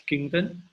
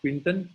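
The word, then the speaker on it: Quinton: by the unique it's a French man it's pronounced as kington but the British were product Quintin well we call it Quintin so we live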